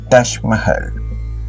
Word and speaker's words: Taj Mahal: más hermoso del mundo, el Taj Mahal, o como se pronuncia en hindi, Taj Mahal.